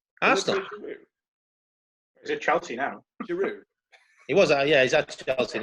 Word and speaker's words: Giroud: I thought it had a D on the end. It does.